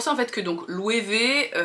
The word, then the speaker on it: Loewe: en fait que donc louer V vu que c'est un nom allemand mais prononcé à l'espagnol on sait jamais trop comment ça se prononce moi maintenant je prononce ça louer V bon je pars du